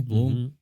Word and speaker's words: Blum: they say it over there in uh germany bloom austria austria yeah i think yeah it's pronounced bloom uh good good so yeah we